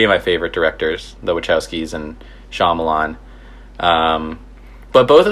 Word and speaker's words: Wachowski: The Wachowskis.